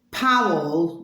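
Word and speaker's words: Pawel: Powell, which is spelled P-A-W-E-L, Wargan, W-A-R-G-A-N, at Powell Wargan.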